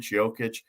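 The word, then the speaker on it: Jokić: talking about joe kid jokic uh i go with jokic i believe that's the way he wants to pronounce it but either way he's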